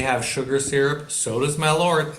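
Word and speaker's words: Malört: How do you pronounce it? I don't know. Malort, I suppose. It's M-A-L-O with an umlaut, which umlaut. doesn't mean much.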